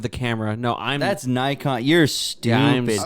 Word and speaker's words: Nikon: Nikon. Get the fuck out of here. It's not an X, buddy. It's a fucking what? You a fucking retard or what? it's a fucking K.